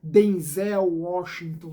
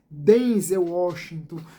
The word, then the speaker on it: Denzel Washington: ah, dizendo que o seu nome não se pronuncia dessa forma, Denzel Washington, né, mas sim Denze Washington, como estamos acostumados.